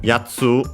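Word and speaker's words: やつ: Uh yatsu uh is accented by the way on the first syllable.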